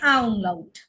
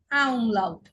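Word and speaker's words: Ä: আ, তখন বলবো কি আ উমলাউট। আ উমলাউটের উচ্চারণ কিরকম হবে? এ। আ উমলাউটের উচ্চারণ হবে এ। একটু দীর্ঘ করে আমাদের বলতে হবে এ, আ উমলাউট এ।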